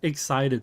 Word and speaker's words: XSEIDET: It's spelled in a really weird way, but it's pronounced excited. So when you're excited for something, that's why my intro is, hello everybody, I'm excited, and I hope you are too.